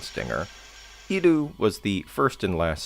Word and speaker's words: Iru: How do I even pronounce this? Oh, okay. It's Iru.